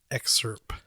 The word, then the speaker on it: excerpt: And I'm not going to read the whole article, but there was one excerpt. Did I say that right? Nope. How do you say it? Excerpt with a T.